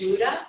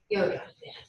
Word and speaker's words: Wouda: Wouda. Did I pronounce it correctly? No. Well, it's fine. All right. It's like Yoda, but with a W. Yoda. All right. Dr. Yoda.